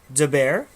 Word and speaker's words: Matt DeBear: We have Matt DeBear, whose last name is actually pronounced DeBear.